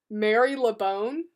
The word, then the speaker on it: Marylebone: Marylebone. Really? Marylebone. I guess that the Y is pretty much silent. People from there say Mary LeBone.